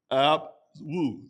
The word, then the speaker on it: Abwoon: The third word we're going to talk is is the word abwoon. That's the way I pronounce it.